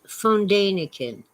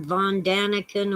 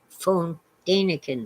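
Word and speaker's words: Däniken: shores of fondanican land it's fondanakin everybody calls him von daniken or von danik and it's phone danican the guy's german so stanford's making fun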